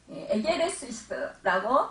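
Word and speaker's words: ἔγερσις: 부활을 헬라어로 아니스테미, 에게레시스라고 발음합니다.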